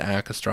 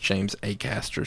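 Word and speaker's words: Acaster: James a Caster is his name it's not at Castro I thought it was actually but apparently it's pronounced James a Caster so we'll we'll go with that moving forward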